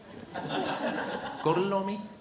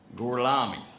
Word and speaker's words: Gorlami: Gorlomi? Lo pronuncio correttamente? Sì, corretto. Gorlomi? Per cortesia, me lo ripeti ancora. Gorlami.